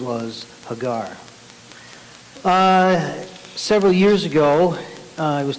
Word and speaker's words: Hagar: I know many times people say Hagar, which doesn't really matter, but in Hebrew usually the emphasis is on the last syllable.